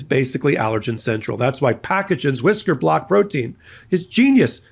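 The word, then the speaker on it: Pacagen: That's P A C A G- N pronounced packagen.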